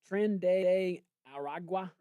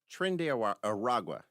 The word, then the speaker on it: Tren de Aragua: So the strike the other day targeted a boat tied to, can you pronounce this thing? Tren de Aragua? Tren de Aragua.